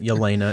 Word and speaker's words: Yelena: I don't know why, but Yelena is how it's pronounced.